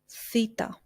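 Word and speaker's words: θήτα: the word Heroes feta Theta which we pronounced like the just like the English word think and let me give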